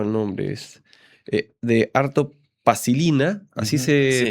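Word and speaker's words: Arto Paasilinna: El tuyo lo voy a leer porque es un poco más complicado el nombre es eh de Arto Pasilina, así se pronuncia.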